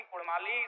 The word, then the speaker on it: कुड़माली: र के स्थान पर अड़ किया जाए क्योंकि कुड़माली साहित्य की बात करें तो अड़ का महत्त्वपूर्ण